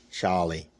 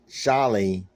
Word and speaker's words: Sharlie: pronounced the name wrong s-h is not something i can say very easily but charlie is spelled with a sh not a ch slimy slim was the